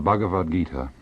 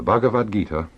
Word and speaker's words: Bhagavad Gita: In 1925, Mahatma Gandhi wrote the following words: I find a solace in the Bhagavad Gita that I miss even in the Sermon on the Mount.